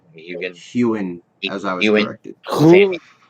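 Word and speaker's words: Heughan: The only one on this list that I think I could possibly see is that the Sam Hugan. Is that how you say his name? Hewen, as I was Ewan.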